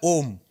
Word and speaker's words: ओम: क्या कर रहे हैं, ओम का उच्चारण एक अलग उच्चारण है। प्राणायाम में, उद्गीत में जब आप ओम की ध्वनि को निकालते हैं तो वो ओम नहीं है, वो 3 ध्वनियां हैं, अ, उ और म।